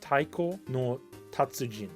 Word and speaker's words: Taiko no Tatsujin: It's pronounced Taiko no Tatsujin.